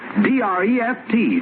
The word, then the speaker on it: Dreft: I'll spell it. D-R-E-F-T, Dreft.